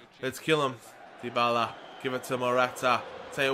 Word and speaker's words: Dybala: is how to pronounce I used to say dbaa but everyone's telling me now it's dybala dybala all right so marata